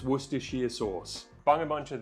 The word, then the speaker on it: Worcestershire: Worcestershire sauce, it's not hard to pronounce, it's Worcestershire sauce. It's Worcestershire sauce.